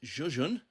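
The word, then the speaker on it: Žižins: 4 o'clock session will be Alfie Burden against Artem Zhuzhin, as I've been told today it's pronounced.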